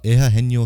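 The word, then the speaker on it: Eugenio: the foreseeable future uh eha heno Suarez that's how you say it I'm pretty sure that's how you pronounce Ito Suarez um link to the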